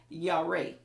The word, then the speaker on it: yare: another hebrew word and the pronunciation is yare and it spells y-a-r-e and it means an